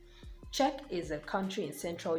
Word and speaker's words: Czech: absolutely silent in scenario the letter c is also silent when it comes before the letter z and words like check how else would you have been able to pronounce a word like this except you omit the c or you totally give it an entirely new sound like it is here given the sound check czech is a country